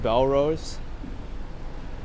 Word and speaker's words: Bellerose: bagels is clothes it says mungus says it's pronounced bell rose yeah that's what i thought the village pizzeria